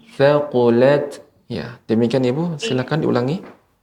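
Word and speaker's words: ثقلت: Ya, Ibu, untuk tak sukun ini juga harus diberikan aliran udara hamsnya, sifat hamsnya. Thaqulat thaqulat.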